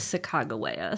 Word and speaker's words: Sacagawea: But supposedly there in his journal, there's like it's written out how it's pronounced, and it was Sacagawea.